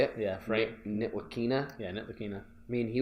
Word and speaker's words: Ntilikina: Yeah, Frank Ntilikina.